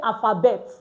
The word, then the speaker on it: alphabet: So now you want to say alphabet in French, you don't say alphabet. You say alphabet. Alphabet. You can see it now. The T is not pronounced at the end.